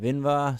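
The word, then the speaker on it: Invar: you would have seen I kind of pronounced it wrong I said either instead of inva so my bad bugger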